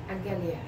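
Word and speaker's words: ἀγγελία: Angelia. Very good, very good. Because it's gamma, gamma, so fourth gamma is an NG sound, right?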